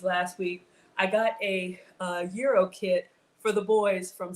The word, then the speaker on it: gyro: It's gyro. The G is a soft G. It's almost silent.